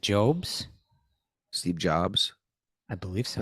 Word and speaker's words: Jobs: your friend of mine Steve jobes is IT jobs Steve Jobs I believe